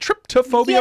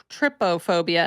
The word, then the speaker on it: trypophobia: Does Scorn have a lot of is it tryptophobia or trypophobia? It's trypophobia, and I'm not sure if it's trypophobia. Okay. I should probably go to Google and try to tell it to pronounce it, but it's not tripped.